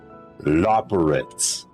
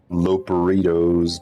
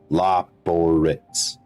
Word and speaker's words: Loporrit: That's how it's pronounced. Loporrit's. Okay. Everybody, you all heard that? Loporrit's. Not Loperitos, not Loperits, Loporits.